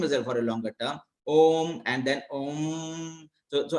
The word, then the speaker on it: Om: the word Om, and the Om has got two words there. It has got three actually words, A, U, and M. And when we pronounce the Om, we have either we pronounce O as a longer term and M as a shorter term.